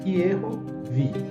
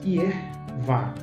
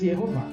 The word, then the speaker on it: Yehováh: Yeho, a primeira sílaba está correta. A segunda, trocou a vogal, está inadequada. Agora, também encontramos Yervá, 6.258 vezes. Yer não está formando a primeira sílaba. E vá, sim, está correta. Então, nós temos aí chamada escrita, uma variante defectiva, a escrita do nome divino, como Yervá. Contudo, encontramos corretamente 263 vezes Yehová. E as pessoas dizem que